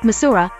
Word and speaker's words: Missouri: McDonald of Missouri and they pronounced it with the a sound at the end instead as a result I learned to code switch inside Missouri it is Missoura and outside Missouri so